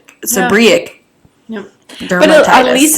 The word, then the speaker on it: seborrheic: Pronunciation. Bam. Come on. Seborrheic dermatitis. Seborrheic dermatitis. Seborrheic. Seborrheic.